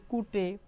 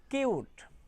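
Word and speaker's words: cute: যদি স্বাভাবিকভাবে আমরা অনেক উচ্চারণ করে থাকতে পারি কুটে, কুট, কিন্তু না, এই শব্দটি উচ্চারণ হবে কিউট, কিউট, ইউ, ইউ।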